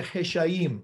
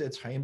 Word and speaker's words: Etz Hayim: So now we call it the Heshayim, but that's a mispronunciation. Heshayim is Etz Hayim. That's really what it is. And so in Hebrew, it's Etz Hayim, but it's always been,